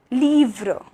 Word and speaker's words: livre: So I is pronounced like E, that is like coffee, okay, coffee. For example, Petit, Petit, that means small. Livre, livre, which means book. Assis, assis, which means seated, okay, to be sitting, seated, assis. And île, île, which means island, île, okay, that's the pronunciation of I.